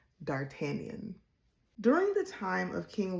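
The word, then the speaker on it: d'Artagnan: It is pronounced Dartanian. Dartanian. Dartanian.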